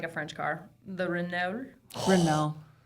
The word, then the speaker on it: Renault: I don't know how to pronounce it, but it's al seems like a French car. The Rena. Rena. Renault.